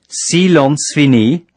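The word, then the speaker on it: Silence fini: cease all transmissions immediately Salons fini pronounced sealants fini means silence is lifted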